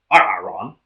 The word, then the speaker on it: Arron: It's actually Arron. It's pronounced Aaron?